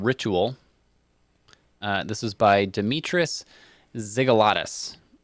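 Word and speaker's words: Xygalatas: this is by Demetrius ziggalatis I did look up how to pronounce this one x y g a l a t s uh zigolitis uh how seemingly senseless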